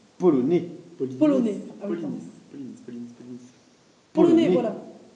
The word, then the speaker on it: polonais: Elle me rappelle une langue d'un pays lointain que je connais, le polonis. Polonais.